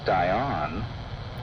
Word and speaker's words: Dian: Note that he removes the last A in Diana and uses Dion to rhyme with dry on later in the verse.